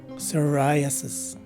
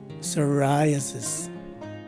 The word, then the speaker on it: psoriasis: letter p do take note that all the letter s's are regular sounding ss and the letters o a and the second letter i are swa's sounding vowels lastly the first letter i is a long i as indicated by the macron sign on top of it so the right way to say this word is psoriasis again psoriasis this is the tenth